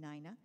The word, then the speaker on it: Nina: I mean, I talked to the Historical Society, and they said because she was of Irish descent, she would have been pronouncing her name Nina.